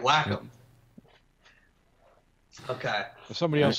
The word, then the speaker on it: Wacom: I mean, it's Nikki's pointing out in chat, it's pronounced Wacom according to Google search. Thank you. Well, there you go. now we got it. All right, Wacom.